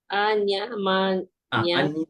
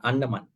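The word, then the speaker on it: aññamaññaṃ: Anya manyang Anya manya. manyang Anya manyang, not annaman.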